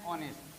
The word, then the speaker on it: honest: যেমন an honest, an hour.